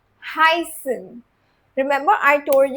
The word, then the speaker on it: heißen: C first focus on the pronunciation Hasan.